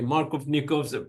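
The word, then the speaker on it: Markovnikov: me double check the it's a Russian name let me double check the pronunciation for it and so it's marov yes the pronunciation is going to be Mar of nikov product Mark of nikov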